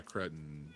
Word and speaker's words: Cretton: Did you Well, did you see that Dustin Cretton? Is that how you say his name? The guy that directed Spider-Man. Yeah. Cretton.